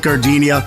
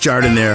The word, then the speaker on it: Jardiniere: And guys, when you're at the counter, don't call it gardenia. It's pronounced Jardiniere.